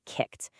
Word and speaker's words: kicked: Just think about the word kicked. We spell it with an e d on the end, but say it out loud. Kicked. It sounds like it ends with a t, right?